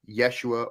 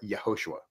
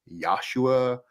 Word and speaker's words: Yeshua: itial who would ever say that the name of the Messiah is anything other than Yeshua or yahoshua I want to make that Crystal Clear okay so if in fact you come across other pronunciations such as yua or yahushua or whatever just understand that that is not correct it's again it's not